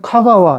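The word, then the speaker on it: 香川: 그런데 이거는 또 천은 이제 가와라고 발음해요. 가와. 그런데 이건 향자잖아. 우리는 향천현 그럴 거 아니에요. 그냥 카가와 이렇게 또.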